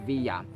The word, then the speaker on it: Villa: yeah yeah for example my last name is vilia but if we going to pronounce it in Spanish It's via but we are refer